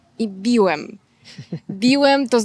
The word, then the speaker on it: biłem: In Polish we have many words where changing just one sound changes the meaning completely. A common example are the words "byłem" and "biłem".